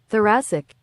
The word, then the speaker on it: thoracic: on we're all going to learn how you pronounce this uh this weird ass injury here we go uh thoracic thoracic let's slow it down thoracic thoracic thoracic